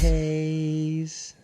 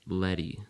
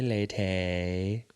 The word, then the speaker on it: Leyte: I've been doing Letty. No, not Letty. Not Letty.